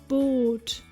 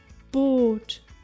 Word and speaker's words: Boot: Double O, as in Boot. Boot, meaning boat. Did you spot it? If you find a double vowel, it means a prolonged vowel sound. Saal, Meer, Boot.